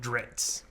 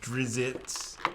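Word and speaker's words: Drizzt: I thought it was I pronounced it drits even though that's not correct oh I was going to say that I don't know if I'm correct no it's like drizz drizz and then drizzit cuz when he comes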